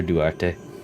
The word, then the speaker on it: Duarte: That's how you pronounce her name, Master Duarte.